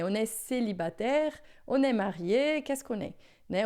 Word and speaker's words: marié: Observa que aqui a gente tem o marié, que é só assim, ó, marié quando é o masculino, e marié com mais um E, né? Que não muda na pronúncia, mas a gente acrescenta na escrita, tá?